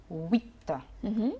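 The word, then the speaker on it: huit: عندنا رقم 8 اللي هو ويت. ويت ليا تعليق برضو ان الاو والاي عملت الصوت وي وي.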